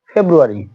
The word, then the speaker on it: ফেব্রুয়ারি: এখন এর পরবর্তীতে দেখুন ফেব্রুয়ারি, ফেব্রুয়ারি আর এর পরে দেখুন ওয়াই আছে, এজন্য এর উচ্চারণটা আর এর উচ্চারণটা হচ্ছে ফেব্রুয়ারি।